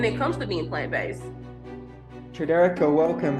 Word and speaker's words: TriDereka: Tridereka, welcome. How you doing? Good. You impressed that I pronounced the name perfectly first time as well.